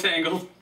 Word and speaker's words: Tangl: we'll just go with tangled that's Tangled t-a-n-g-l like the mess your hair gets in okay thank you yeah